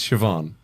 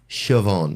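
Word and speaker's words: Siobhán: it's very weird man that's nice but it's sioban sioban okay I didn't know they had black people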